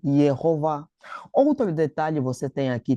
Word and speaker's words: Jehová: Esse re que vocês estão a ver aqui, ele é impronunciável. não se pronuncia porque segundo a grammática do hebreico, quando nós temos o a kgador mais o re no final, isso indica uma terminação feminina. O re no final dificilmente ele é pronunciado. Ah, então aqui nós temos Jehová. Ah, temos aqui Jehová.